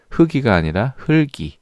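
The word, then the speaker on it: 흙이: 'heugeul' 이 아니라 'heulgeul' 맞죠 ? 'heulgi' 라고 발음 해야지 'heukgi' 라고 발음 하면 안 돼 요 .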